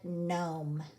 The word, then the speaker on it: gnome: would chew would gnaw on the wood and Gnome and enormous like that little elf that statue